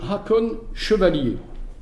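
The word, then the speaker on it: Haakon Chevalier: autre exemple celui de Hakon chevalier alors je prononce à la française parce que vous verrez c'est quelqu'un qui rapport avec la France donc ENF 1942 un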